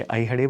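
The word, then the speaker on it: Aihole: सो लिखने में ये लिखते हैं, बट प्रोनाउंसिएशन में ये अयहडे बोलते हैं, कन्नड़ प्रोनाउंसिएशन में।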